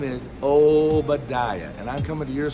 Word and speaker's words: Obediah: First of all, how to pronounce my name. It's Obediah.